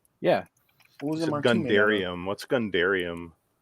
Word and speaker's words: Gundarium: you're saying dairy gundarium gundanium that's the strongest milkshake ever made there's an r in there there's an r in there it's gundarium god damn it i